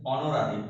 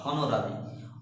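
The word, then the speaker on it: honorary: অনারেবল, অনারেবল, নট হনারেবল, হন নয়, এগুলোকে আমরা উচ্চারণ করি অনারেবল। Next অনারারি, নট হনরারি, অনারারি, higher.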